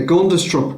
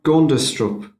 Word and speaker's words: Gundestrup: And there's the Gundestrup cauldron. The what now? Gundestrup. Spell that for me.